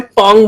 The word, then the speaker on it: Phong: उसको बोलते हैं पोंग मॉडल, PHONG, आप इसको जैसे चाहे वैसे प्रोनाउंस कर ले।